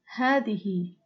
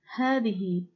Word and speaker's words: هذه: Hadihi is also pronounced as hadihi, but written as the one in the pink box. Hadihi. Hadihi. So you need to pronounce this more than once in order to remember that the letter alif is not written but pronounced.